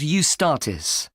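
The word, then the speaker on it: Eustatis: The next day, the 18th, there's a performance by a ballet company called Ustartis. Sorry, the name is spelled E U S T A T I S.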